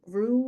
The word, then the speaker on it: Ru: It's Mama Ru, like Rue, and it's spelled like that.